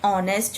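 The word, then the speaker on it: honest: तो यहाँ पे तो एच है पर अपने बोलते कैसे हैं? ऑनेस्ट. तो ऑनेस्ट बोलते हैं तो कैसे प्रोनाउंस होता है, स्पेल होता है? ओ से होता है ना, ओ ऑनेस्ट. तो इसलिए यहाँ पे एन लगा दिए.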